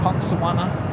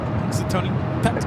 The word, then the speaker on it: Punxsutawney: Pungsawana? Punxsutawney.